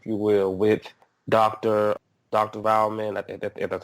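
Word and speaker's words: Waldman: um tone if you will with Dr Dr valman that's how you say his name his dad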